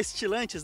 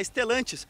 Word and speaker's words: Stellantis: Mais do que isso, trata-se de um filho da Stellantis, não da Stilantes, da Stellantis. Sim, a grande notícia aqui é que o 208 recebe agora o motor 1.0 Firefly de origem Fiat.